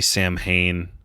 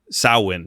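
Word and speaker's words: Samhain: uh later that um they say sam Hayne I know I pronounced it correctly in the first portion but I can't remember Sam hin sawin sawin is how you cor correctly pronounce it that of the Witchcraft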